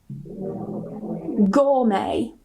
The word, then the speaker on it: gourmet: So if they end with a T, we normally don't pronounce it. Nah, ini aturan yang terakhir, number 4, with French borrowed words. For example, ballet, gourmet, buffet or buffet, rapport, ricochet.